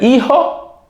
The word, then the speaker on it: hijo: So el hijo, repeat, el hijo. Remember the H is silent.